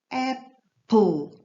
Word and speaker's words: apple: ми Познайомимось з вами Apple Apple буква і в кінці не читається пам'ятаємо про це Apple яблуко apple банана